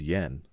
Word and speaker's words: JPY: akiyama from jpy inc it is written as jpy and pronounced as yen as you may have